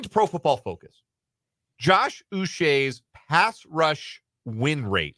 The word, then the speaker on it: Uche: I felt bad to find out that it's now Uche. Which, Yeah, I'm glad to know, but the Patriots media resources had a clip of him pronouncing his name, and his preference is Joshua Uche.